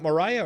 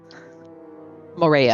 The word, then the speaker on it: Morea: And yeah, if Mortek and Mariah, is it Mariah or Morea? Morea.